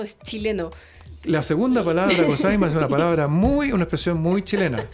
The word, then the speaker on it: gozaimasu: Para los demás que no lo están viendo y que lo están escuchando, piensen que la palabra gozaimasu se escribe con Z entre medios, gozaimasu.